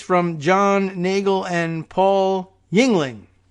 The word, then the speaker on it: Yingling: This piece from John Nagel and Paul Yingling. Spelled not quite like the beer, but more phonetically than that, believe it or not. Just straight up Y-I-N-G.